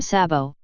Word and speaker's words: sabot: The name sabot, pronounced /sbo/sabo in English usage, is the French word for clog, a wooden shoe traditionally worn in some European countries.